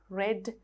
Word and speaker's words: read: you in this verb the spelling doesn't change but the pronunciation changes when it comes to the past form and also the past